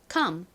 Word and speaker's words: come: 쓰였어요 자 앞에서부터 읽어보면 c는 쌍시오 톡은 키읔 소리가 나죠 여기서는 킥 소리로 쓰였고요 방금 설명드린 것처럼 5가 어 소리로 쓰였습니다 그리고 m은 미음 소리가 나죠 받침으로 들어오니까 발음은 컴이 되죠 컴은 무슨 소리냐면 오다라는